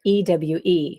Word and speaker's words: ewe: about crazy for you what is it that your business is okay so um your listeners probably can't see that it's um crazy for ewe which is pronounced you but it's a female